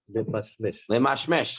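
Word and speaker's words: למשמש: How do you pronounce that? Lemashmesh.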